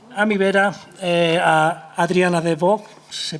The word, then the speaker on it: de Bock: Y tenemos también a mi vera a Adriana de Bock, ¿se pronuncia así?